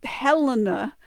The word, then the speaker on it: Elena: Elena or versus Elena, without the, so Helena, but they won't say the H versus Elena, but you'll see it, especially in Latin records with the H.